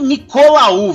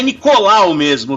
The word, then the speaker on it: Nicolaou: Na verdade não é nem Nicolaou, viu? É que é assim que se escreve, mas é Nicolau mesmo, viu, Bessa?